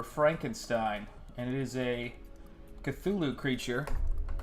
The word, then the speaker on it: Cthulhu: It is staring over Frankenstein, and it is a Cthulhu creature. I know it's probably pronounced Thulu.